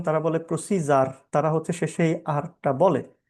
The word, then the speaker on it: procedure: শেষে আরটা ওরা মানে উচ্চারণে আসে না। ব্রিটিশরা আরটা এমনি বলে না। যদি শেষে থাকে। এরপরে আমেরিকান প্রোনাউন্সিয়েশন তারা বলে প্রসিজার।